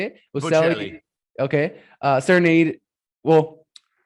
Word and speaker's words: Bocelli: Bocelli.